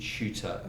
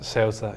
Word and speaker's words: Ceuta: There was a team called AD Ceuta. Ceuta, yeah.